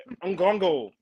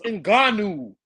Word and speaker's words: Ngannou: D Free, you said Ngongo. It's Ngannou. I don't care.